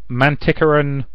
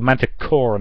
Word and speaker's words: Manticoran: So the stories focus primarily on the Manticoran Alliance, or the Manticoran Alliance. Apparently there's a bit of debate in the fan base about the correct way to pronounce that.